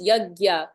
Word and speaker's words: yajna: or sacrifice or no yajna yajna or sacrifice um it's it's it's a little um confusing but it's pronounced yagya you can pretend it's